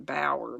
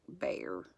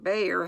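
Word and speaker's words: Bhaer: to say it bear I guess it's like better be har I've been saying bower but it's more like bear I think Joe valued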